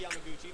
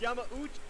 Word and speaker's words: Yamauchi: And then in 1956, Hiroshi Yamaguchi, the third president of the company, and I still pronounced it wrong. I put a G in Yamaguchi. It's Yamauchi.